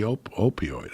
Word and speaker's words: opioid: Just about the opioid epidemic and how the DEA stopped prosecuting.